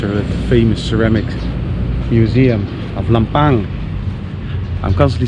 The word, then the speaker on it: Lampang: do around it's a famous ceramic Museum of lampang I'm constantly saying lampang because um that's how